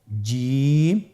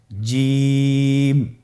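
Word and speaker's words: جيم: এর মাখরাজ হলো জিহ্বার মধ্যখান, তার বরাবর উপরের তালুর সঙ্গে লাগিয়ে উচ্চারিত হয়।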